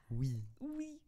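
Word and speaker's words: oui: I found out that we doesn't have a w in it my world was shattered o-u-i yeah we I don't know how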